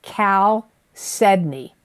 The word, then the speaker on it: chalcedony: March of 2023 is chalcedony I'm going to spell it because people always ask me to spell it c-h-a-l-c-e-d-o-n-y and even though it's ch it's not pronounced cha it's Cal Sydney it's a nurturing Stone